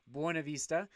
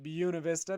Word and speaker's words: Buena Vista: when i call buena vista buena vista properly pronounced buena vista but the locals call it buena vista because we're weird and local like that so